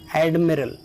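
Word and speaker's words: admiral: Next है एडमिरल, AD पर stress है।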